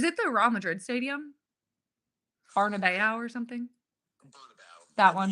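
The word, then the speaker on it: Bernabéu: No offense to how do you say it again? Burnabout. Bernabeu.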